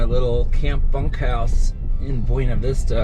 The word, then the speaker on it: Buena Vista: I'm uh leaving my little Camp bunk house in Buena Vista or apparently it's Buena Vista they don't pronounce Spanish words correctly here but I'm looking at